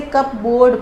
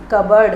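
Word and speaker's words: cupboard: Guys this is कबर्ड, this is, बहुत सारे बच्चे इसे कप बोर्ड पढ़ते हैं बट इट is wrong, the pronunciation is कबर्ड, और कबर्ड मीन्स अलमारी।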